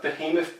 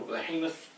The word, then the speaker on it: Behemoth: a new Birmingham nickel Behemoth Brewing yeah Americans say Behemoth but it's still Behemoth I'm off for him off but okay but to